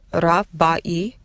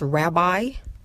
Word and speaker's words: rabbi: Did you hear the word rabbai that the people of the nations pronounce as rabbi? We don't have a long I sound in our language. The closest sound we have to that is the diphthong that we've spoken about, a-e. The exact same diphthong we use in our names, such as Aisha.